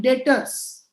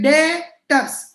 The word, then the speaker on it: debtors: This type of customers in accounting are called debtors. B is silent. B is silent. Don't call it as debtors. B is silent. Okay, debtors. Debtors. B is not to be pronounced.